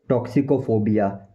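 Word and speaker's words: toxicophobia: इसको बोलेंगे टॉक्सिकोफोबिया, टॉक्सिकोफोबिया, टॉक्सिकोफोबिया, टॉक्सिकोफोबिया, टॉक्सिकोफोबिया, टॉक्सिकोफोबिया, टॉक्सिकोफोबिया, टॉक्सिकोफोबिया, टॉक्सिकोफोबिया, टॉक्सिकोफोबिया, टॉक्सिकोफोबिया।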